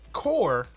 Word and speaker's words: corps: typing in the chat core is spelled c o r PS just like the Marine